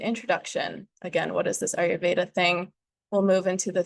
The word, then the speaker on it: Ayurveda: Let's just start with the pronunciation. Ayurveda. Ayurveda. So Ayur translates to life. Veda translates to science. So yoga, Ayurveda, Tantra, and a couple other things are considered